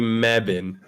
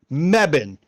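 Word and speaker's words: Mebane: spell that it's m-e-b-a-n-e it sounds nothing like you pronounce it it's going to be mebin mebbin my mebin north carolina so if all your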